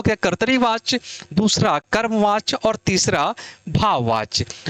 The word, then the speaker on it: कर्तृवाच्य: कर्तृवाच्य नहीं है बेटा। ये कर्तरीवाच्य है। यानी त के ऊपर भी र है और नीचे भी र है।